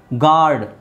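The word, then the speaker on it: guard: ಅದು ಹಂಗೆ ಪ್ರೊನೌನ್ಸ್ ಆಗುತ್ತೆ ಗಾರ್ಡ್ ಯು ಬೇಡ ಜಿ ಎ ಆರ್ ಡಿ ನೇ ಗಾರ್ಡ್ ಆಗುತ್ತೆ ರೈಟ್ ಗಿಲ್ಟ್ ಇಲ್ಲೂ ಯು ಬೇಡ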